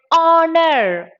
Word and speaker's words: honor: such words like ah here H is silent hence we go with the next letter that is aa so